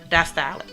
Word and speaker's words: diastolic: It's the systolic and a diastolic.